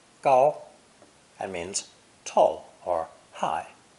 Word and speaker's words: 高: This character is pronounced first tone, gao, gao, and means tall or high, physically or metaphorically.